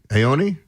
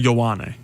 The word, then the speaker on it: Ioane: Olivavenga Ioane. There's no N. There's no N in Vega, but it's like Venga.